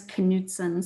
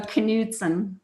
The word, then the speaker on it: Knutson: And my last name is Knutson. So canoe, like when you're in a canoe, like a very Canadian activity. Okay. So Knutson. Knutson.